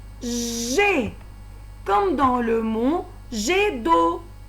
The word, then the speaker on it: jet: Je, ai, j'ai, comme dans le mot jet d'eau. Dans le mot jet d'eau, j'entends la syllabe G, même si j'écris G-E-T. Je prononce G.